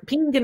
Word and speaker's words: pingin: So when it comes to the word pean, or pingin as you might pronounce it, well, that's of course penny in Irish.